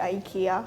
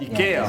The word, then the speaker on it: IKEA: So we say IKEA for when we speak English, but that's not how you pronounce it. IKEA.